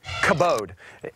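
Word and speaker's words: כבוד: at your friends and I want you to say this word abode go ahead say it commode if you're not Hawking a loogie up on your neighbor you're probably not saying it correctly kavod it's the Hebrew word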